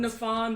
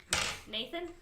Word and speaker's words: Nefan: I'm Nefan the Wronged. Nathan? It's pronounced Nefan, but it's I don't know.